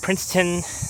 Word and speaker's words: Princeton: Yeah, I think I pronounced Prince Town by accident. It's Princeton.